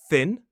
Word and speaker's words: thin: If the tip of your tongue isn't touching your teeth, your top teeth, then you're not going to make the right sound for thin.